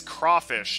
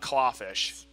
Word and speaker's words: crawfish: I already told you, it's crawfish, not clawfish.